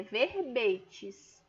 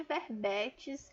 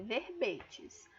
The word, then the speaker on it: verbete: Vamos atentar primeiro à pronúncia, é verbetes, tá certo? Não é verbetes, o E aberto não, é verbetes.